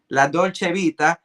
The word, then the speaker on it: La Dolce Vita: Perfume, Riviera Paradise, and you can call it La Dolce Vida, or as some people insisted that I continue to pronounce it, La Dolce Vita, which is 2 of the new releases.